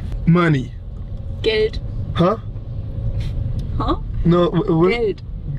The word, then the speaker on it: Geld: Geld. Huh? Huh? No, what? Geld. Good. Geld. How you spell it? Gate? No, not gate. G-E-L-D. Geld. Oh, geld.